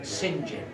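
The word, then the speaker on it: St John: the ussr sir john singh john although he pronounced it sinjin anyway when he first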